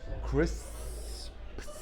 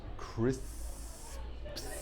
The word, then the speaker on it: crisps: Such a difficult word to pronounce. Crisps. Crisps. Now you've got 3 sounds. You've got the s, you've got the p, and you've got the s again.